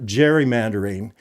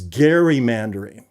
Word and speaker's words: gerrymandering: It is not gerrymandering. It is gerrymandering.